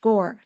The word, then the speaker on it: Gaur: Yes, it's my one word if I had for Neil Gaur. And by the way, his last name, Gaur, is more like Om, right? OM. So it's actually in Indian pronounced Gore.